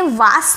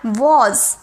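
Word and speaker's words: was: Next अब हम बात करेंगे आई वॉज, इसे वास नहीं, आई वॉज, वॉज बोलिए मेरे साथ, बोलिए।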